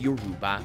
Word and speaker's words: Yoruba: a strictly tonal language yoruba being pronounced yuruba it's an amazing challenge